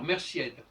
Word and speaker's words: merciède: Si tu es une femme, je vais te dire merciède. Si tu es un homme, je vais te dire mercier. Je ne prononce pas le D selon les règles du français.